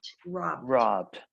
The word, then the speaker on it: robbed: It's robbed. Robbed. Just with the D ending.